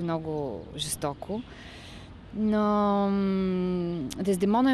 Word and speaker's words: Дездемона: как изгради своята дездемона дездемона или дездемона къде ударение демона дездемона принципно дездемона но дездемона също не е е грешно да се казва а дездемона принципно е